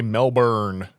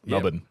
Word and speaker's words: Melbourne: It's it's like we say Melbourne when it's Melbourne. Yeah, Melbourne. Yep. So yeah, just found that out the I other feel like day. an asshole walking around saying Melbourne.